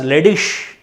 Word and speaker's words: ledig: Then IG, ending IG will be spelled as ish. LEDIG pronounced as ledish in German.